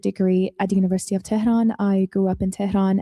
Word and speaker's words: Tehran: Yeah, I'm from Tehran and I grew up in Tehran as well.